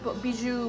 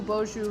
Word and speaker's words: Beaujolais: bar how do you how do you say this bijou beaujolais actually beaujolais beaujolais maybe i need to